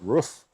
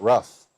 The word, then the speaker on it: roof: We pronounce it roof, not ruff.